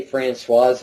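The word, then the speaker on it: Françoise: she said Fran Hardy she didn't say franois Hardy which I think is the proper pronunciation franois I so I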